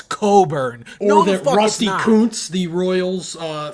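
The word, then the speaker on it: Cockburn: a Kofi Cochburn said it's No, it's Coburn.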